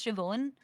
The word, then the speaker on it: Siobhan: there be an educational class on how to pronounce Shon okay so uh in that case I'll see